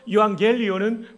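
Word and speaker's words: εὐαγγέλιον: 여기에 보면 유앙겔리온이라고 합니다. 액센트가 이 음절에 있습니다. 한번 따라해 볼까요? 유앙겔리온. 거의 총신 수준으로 발음하고 계십니다. 유라는 말은 좋다라는 뜻이고 복되다라는 뜻이고요. 앙겔리온은 소식입니다. 따라서 유앙겔리온은 복된 소식이죠.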